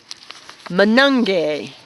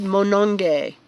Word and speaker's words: Monongye: you can you say his last name everybody Manong gay David moanin gay yes that's how you spell it and do you know it was it